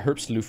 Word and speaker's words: Herbstluft: Gunn says, he almost got Herbstluft right with the U pronounced like hook.